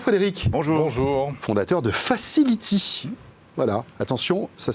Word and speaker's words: Facil'iti: Fondateur de Facility. Voilà, attention, ça s'écrit avec des petites...